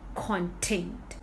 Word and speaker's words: content: That's called content. Here I am stressing on the first syllable. Content. All right. Second, content. Here I am stressing on the second syllable.